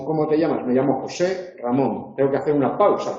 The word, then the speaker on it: José Ramón: Cuando digo José Ramón, el único acento que se conserva es Ramón. José pierde su acento. No digo, ¿cómo te llamas? Me llamo José Ramón.